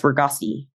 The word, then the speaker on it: Ragoczy: It's spelled RAGOCZY. So in my name, CZ is just rustic. So here, just say that's Raghazi.